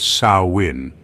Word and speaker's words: Samhain: ancient Kelts and their festival called Sam Hayne pronounced sawin the Kelts believed that on October 31st the